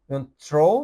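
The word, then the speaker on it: threw: যদিও স্পেলিংটা থ্রি কিন্তু উচ্চারণটা হবে থ্রু।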